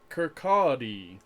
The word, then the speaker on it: Kirkcaldy: Kirkcaldy. Kirkcaldy. Which you would not guess from the spelling of it. It's spelt Kirkcaldy. Kirkcaldy.